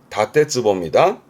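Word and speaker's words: 建坪: 발음은 다떼버 다떼보입니다.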